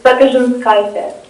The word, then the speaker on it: Sapezhinskayte: So it's Sapezhinskayte. Okay, thank you. Sapezhinskayte.